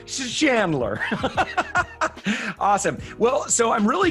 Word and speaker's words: Chandler: know if I'm saying is it Chandler with a hard C or a soft like an S Chandler? Somewhere in the middle, Chandler. Chandler.